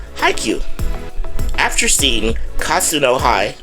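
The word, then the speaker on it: Haikyu: It is HiQ. It's spelled H A I K Y U. HiQ.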